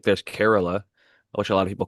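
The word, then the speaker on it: Kerala: We have a listener who lives in Carerala who corrected me cuz I was always calling it Corala, but it's spelled K E R. Yeah. K E R A L A. And breeder Steve even mentioned it and called it uh Corala, which most people do because that's how it if you're an English speaker, he would pronounce it.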